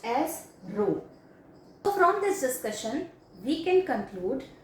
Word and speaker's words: rho: It is pronounced as rho.